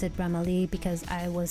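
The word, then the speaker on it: Bramalea: bramalee I just knew that you're supposed to pronounce it brahmali because I was saying it wrong the whole time I was used to singing in Brahma Leah I thought it was brahmalia so it's bramalee apparently so far it was really smooth ride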